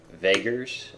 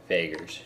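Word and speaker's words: Vaegirs: You've got the Kingdom of Vagers, I think it's pronounced. It's V-A-E-G-I-R-S. Vagers, we'll call it that.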